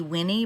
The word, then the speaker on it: Wynn: a veteran photographer so mark wynn i think that's how he pronounces his surname it could be winnie but i think it's actually just win w-i-n-n-e so mark wynn was